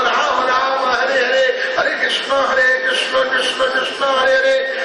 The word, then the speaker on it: कृष्ण: है नो नहीं है न है हरे कृष्ण हरे कृष्णा नहीं कृष्णा बोलते समय स्वास बाहर निकलती है हरे कृष्णा कृष्णा बोलते समय जीव आपकी दांत से टकराती है और जीव जब